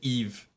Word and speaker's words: Yves: He's Balenciaga or maybe Yves Saint Laurent. yes, Eve. Yves, yes, like my pronunciation.